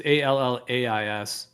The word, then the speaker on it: Allais: I like to pronounce it Elias, although his name, I don't exactly how it's pronounced. It's Allais. I always say Elias.